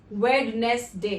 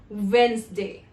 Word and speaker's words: Wednesday: Now, people often say this word as Wednesday. The correct pronunciation is Wednesday, where you omit the sound D. There is no D, there is no wed. It's Wednesday.